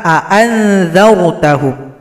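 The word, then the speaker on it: أأنذرتهم: Maka kita baca a'anzartahum. A-nya dibaca jelas kedua-duanya. Tapi kalau kita pakai dengan cara baca qiraat Imam Nafi' riwayat Qalun, a yang pertama panjang, a yang kedua disamar-samarkan.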